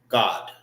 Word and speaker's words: Gad: When we pronounce our Hebrew, it's ah.